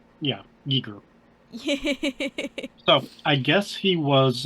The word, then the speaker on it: Giger: got it it's jiger or hard G yeah Giger so I guess he was uh getting ready